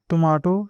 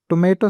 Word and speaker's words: tomato: In British English, she added fresh tomato slices to the sandwich. And in American English, she added fresh tomato slices to the sandwich. Tomato or tomato, both are correct.